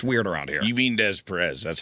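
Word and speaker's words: Des Peres: You mean Des Perez? That's how it's pronounced.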